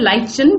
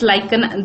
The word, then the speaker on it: lichen: Now lichen is basically some people also call it lichen, but it's lichen, that's how I pronounce it.